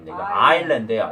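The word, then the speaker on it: island: in therence가 아니고요 indurance입니다 아일랜드에요 s를 발음 안 합니다 이거 아일랜드 판머스네 여기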